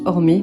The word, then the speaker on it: Orme: Ça s'écrit Atelier Orme, mais ça se prononce Ormé parce que ça vient de l'italien qui signifie empreinte.